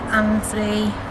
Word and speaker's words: Annesley: Okay, so we're just trying to find Annesley Honestly. Old Church. Yeah, is that how you pronounce it?